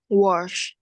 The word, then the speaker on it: was: Was. No, not sharp. Z, all right, Z. It was. It was. Yeah, like the zoo, Z, zoo. It was.